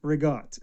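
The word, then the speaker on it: ricotta: Reott. So, you cut it off at the end. There's no a. You put a g in there for whatever reason. And that's what you say.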